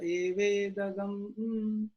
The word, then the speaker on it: evedam: It is pronounced as evedagam only. Purusha Purusha evedagam.